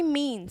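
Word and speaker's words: tsunami: next चलते हैं कि सुनामी सुनामी क्या होता है यह यहां पर साइलेंट है ध्यान रखिए का यह साइलेंट होता है सुनाने स्प्रिंगस्टीन से स्टार्ट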